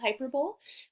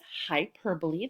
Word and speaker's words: hyperbole: language it's called hyperbole now look at that word it looks like it says hyperbole but it really says hyperbole that's how we pronounce it um our essential question